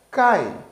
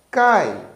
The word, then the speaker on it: cai: e o fonema i o i neste caso ele soa mais fraco que o fonema a quando nós dizemos cai cai então o a ele é mais forte ele domina essa sílaba e já o i ele é mais fraco nesse sentido agora vamos